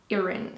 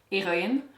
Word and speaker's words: Heroine: So we have that exact same name, but we don't pronounce the H, so it's like Heroine. So Heroine. Oh, I still can't do it.